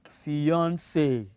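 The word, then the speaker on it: fiancée: is the lady's words fiance fiance even though we spell this differently from that of a female f-i-a-n-c-e but that of a female f-i-a-n-c-e e but they have they are pronounced the same way fiance all right the last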